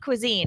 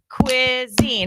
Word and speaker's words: cuisine: first we're going to clap the syllables of Cuisine everybody ready Cuisine how many syllables hold it up two two syllables in Cuisine I'm sure you already